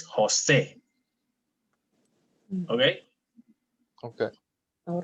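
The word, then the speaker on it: José: But if I put the accent, it's Jose. Okay? Okay. All right. for example, the name Jose. We're going to breathe that J like an H in English.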